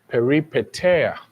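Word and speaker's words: peripeteia: We have peripetera.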